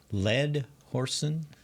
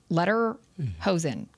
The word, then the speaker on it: Lederhosen: Ledhorsen? Lederhosen.